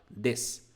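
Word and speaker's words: です: então é noite ok a pronúncia dele quando a gente tem esse s u no final de uma palavra a pronúncia vai ser um s vai ser mais próximo disso então aqui a gente fala des des então quando eu falo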